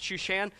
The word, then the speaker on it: Shushan: i have no idea it kind of rhymes with shoeshine but it's not it's shushan all right this is